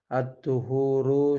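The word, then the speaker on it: الطُّهُور: Rasulullah sallallahu alaihi wasallam bersabda, "Attuhuru syatrul iman." Adapun bersesuci, syatrul iman adalah sebagian dari iman. Ini dibacanya attuhur, ya. Apa bedanya attuhur dengan at-hahur?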